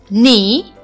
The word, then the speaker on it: knee: I told you that if we have letter K before the letter n we never pronounce this letter so here is that examples are knee knock knowledge or no